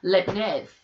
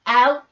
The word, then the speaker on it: Leibniz: Really interesting to bring in here a key thinker, Leibniz. I think that's how you say his name. It's spelled a bit weird. Leibniz.